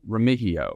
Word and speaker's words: Remigio: The one guy, Nico Remigio. Yes. The M is silent, not Remigio. People are going to say Remigio the whole time until he's a star.